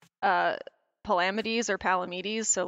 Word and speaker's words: Palamedes: debates on my TikTok page about if it's Palamedes or Palamedes, so like I cannot possibly judge. I'm just sitting here. I say it the second way, Palamedes. I say Palamedes.